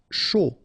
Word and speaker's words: chaud: Chaud, final D not pronounced.